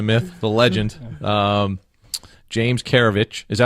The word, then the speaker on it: Keravich: the man the myth the legend um james karevich is that how you pronounce it by the way yeah because i